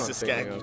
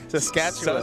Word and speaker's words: Saskatchewan: Where is Saskatchewan? How do you say Saskatchewan?